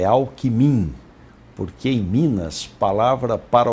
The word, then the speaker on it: Alckmin: a questão a da forma com que se pronuncia queria que eu contasse pra gente afinal alckmin o alckmin líder josé de alencar rosada ele